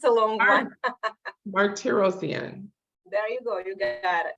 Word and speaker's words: Martirosyan: You just phonetically spelled. I know it's a long one. Martirosyan.